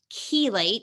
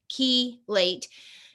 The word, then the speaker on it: chelate: there's a word and it's key late it sounds like you're putting a key in a door and then you're late for an appointment key late it's spelled c-h-e-l-a-t-e chelate means whatever the